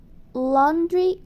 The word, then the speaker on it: laundry: E a pronúncia de laundry é lo, como se tivesse um O ali no lugar do A e o U. Laundry.